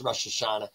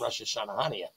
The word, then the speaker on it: Rosh Hashanah: because you know it's Rosh Hashanah in Italian they don't say it right they call it Russia shanahania because Italians don't know